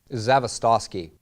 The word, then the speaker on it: Zavistoski: them your last name zavistoski are you Russian it's polish it's phonetical if you sound it out you could pronounce it but that's why I